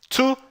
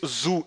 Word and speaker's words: zu: Zu Hause, tá legal? E a letra Z no alemão tem som de TS, tá? Você não diz zu, e sim zu.